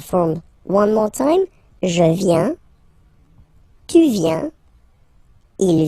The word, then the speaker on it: viens: First form, je viens. Final S not pronounced. Je viens. Remember, I-E-N, ien, ien. Je viens.